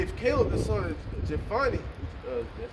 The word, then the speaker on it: Jephunneh: say if Caleb the son of Jephunneh, that's how you say it, Jephunneh.